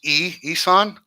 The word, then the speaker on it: Isan: So we spell it Issan, but it's pronounced Isan.